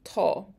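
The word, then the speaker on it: tá: It's the present tense of the verb to be, to. So to. And it's like the A in law. So law is a good example here. To, law.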